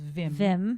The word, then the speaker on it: Wim: Well, it's WIM, which I assume is pronounced Vim.